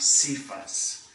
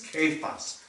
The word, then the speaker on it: Kephas: By the way, it's not Cephas. It's a hard C. It's K in Greek. It's Kephas, stone, rock.